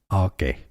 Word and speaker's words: Arche: It comes from Greek, meaning beginning. Beginning in Greek, it's pronounced Arche.